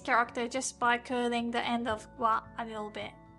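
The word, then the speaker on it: へ: Our next character is he he but as a particle it should be pronounced as e.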